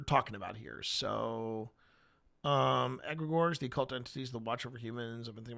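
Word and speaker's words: egregore: And um the idea of an of an of an agregor or as you may have heard some people pronounce it with an a an aggregor.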